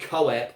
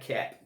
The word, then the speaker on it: Koepp: And it's not David Koepp like his name looks like. It's David Koepp.